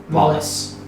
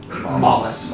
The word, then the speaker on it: Mollis: Was that Mollusk or Mollusk? Mollis. Mollis. Okay.